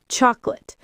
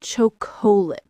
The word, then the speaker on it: chocolate: Chocolate. We all love it. Chocolate. Not choc.